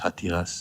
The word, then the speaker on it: Hatiras: How do you spell that? H-A-T, H-A-T. Okay. I-R-A-S. Hatiras. George Hatiris.